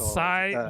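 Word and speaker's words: açaí: the AI um acai how do you pronounce that the aashi blueberry pomegranate asai it's called asai blueberry pomegranate I mean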